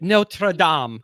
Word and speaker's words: Notre Dame: your comment section said I'm pronouncing Notre Dame wrong there's no D and Notre Dame so - a Touche all right no true aim Oh sounds really fancy friends yet notre Dom that's what I just